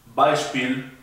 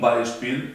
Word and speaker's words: Beispiel: Beispiel significa ejemplo. Yo digo zum Beispiel significa por ejemplo. Acá tenemos los dos últimos diptongos. La EI, by, y Spiel, la IE, una I un poco más larga.